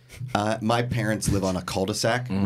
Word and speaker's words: cul-de-sac: Because the L is silent in cul-de-sac. Yeah. No, wait, I'm asking because I don't want another St. Louis situation. It's C-U-L-D-E-S-A-C.